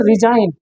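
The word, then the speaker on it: resign: तरीके से ये देखो इसको हम पढ़ते हैं रिजाइन अगर आप देखे जी के बाद बहुत रिइंग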